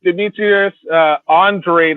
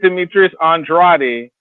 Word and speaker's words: Demetrius Andrade: to let you know when you say his name, it's not Demetrius Andrade, it's Demetrius Andrade. Okay. That's how his name is pronounced.